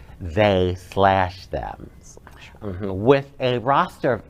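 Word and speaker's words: They/Them: them uh and actually it's pronounced or said they slash them mhm with a roster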